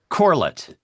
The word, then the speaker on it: Corlett: As always, I am Abdullah, and with me today is Ian James Corlett. Is that how you pronounce your last name? Is it Uh, Corlett or Corlett? Corlett, Okay. but I'll accept both, Alex.